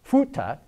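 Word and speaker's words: 福特: Buick becomes be Cadillac becomes kadaka Ford is pronounced futa and GM is tongyang now I'm sure all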